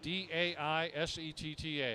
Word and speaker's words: Daisetta: I mispronounced it the first time ever, and he corrected me very quickly. And then every time I walk by his pits, he says, how do you say it? I say Daisetta, Texas.